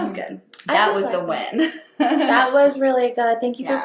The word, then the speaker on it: Nguyen: And like it's Win, that's how you pronounce that.